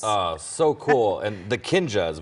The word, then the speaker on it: Kinjaz: And the Kinjaz, we've been mispronouncing it. Yeah, Kinjaz, like Kinjaz, a ninja.